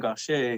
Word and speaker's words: Gaucher: That's how you say his name, Gaucher.